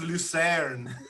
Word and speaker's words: Lucerne: It's pronounced Lucerne.